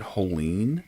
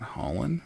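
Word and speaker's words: Hollin: Did we pronounce it Holeen, not Holland? Okay.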